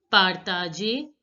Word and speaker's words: partager: Partager, the last ER is not to be pronounced. No, I'm sorry, I mean to say le coucher de soleil, partager. ER is to be pronounced as A.